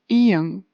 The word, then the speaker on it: 이응: The eighth consonant is 이응, 이응, and this one is really interesting because it has a silent sound, but it also has 응 sound, 응, 응. Silent sound when it's placed in the beginning in the syllable, and 응 sound when